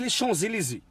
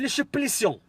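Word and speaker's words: Champs-Élysées: يقول لهم انا في لي شونزيليزي. الو السلام عليكم، كنتمنى منكم كلشي يكون فرحان مزيان فرحان. انا في لي شوبليسيون، بغا ينطق لي شونزيليزي، نطقها بلي شوبليسيون.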